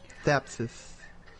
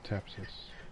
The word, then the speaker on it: thapsus: Verbascum thapsus. Okay, Tapsis. Did I say it wrong? I think it's thapsus, like TH. Thapsis.